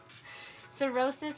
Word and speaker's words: cirrhosis: you spelt it wrong cirrhosis has that silent h in it but it's not in the beginning like how you said